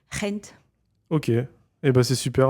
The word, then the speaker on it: Gent: Et donc dit bah les Français disent mais euh euh les anglais disent Gent et les euh bah en Dutch c'est hent.